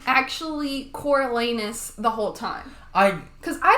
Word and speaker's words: Coriolanus: Or was his name actually Coriolanus the whole time?